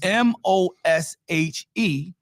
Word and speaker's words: Moshe: That's why we spelled trying to get it is spelled M O S H E and pronounced Moshe and it is taken from the root word or the verb rather Masha.